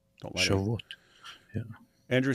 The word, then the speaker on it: Shavuot: Shavuot. Don't lie. Shavuot.